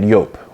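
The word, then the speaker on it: Joop!: things like uh curve we had well we pronounce it jup it's actually pronounced yope uh but we had yope we had uh iyaki we had the DOL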